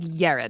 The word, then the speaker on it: Jared: There's no way it's pronounced Jared. It's like Yared.